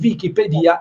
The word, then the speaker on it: Wikipedia: comunque così deve essere Pedia perché questa è la l'accento che diamo a enciclopedia e quindi Wikipedia è di fatto la pronuncia giusta eh spiegazione quindi Scusa